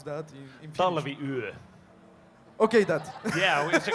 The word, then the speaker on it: Talviyö: I don't know how to pronounce that in Finnish. Talviyö.